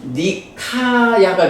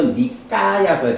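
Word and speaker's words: Nikāya: 이게 영어하고 발음이 조금 달라. 그러니까 이게 이제 영어로 보자면 니카야가 될 거고 숫가 타가 되겠지. 그런데 어 나중에 우리가 한번 보겠지만요 발음이 왜 국제적으로 그 영어 발음하고 다르게 알파벳이 국제 발음 기호 런게 있지 어 고발음에 따라서 발음을 하거든. 그래서 니까야가 되고 숙다가 돼.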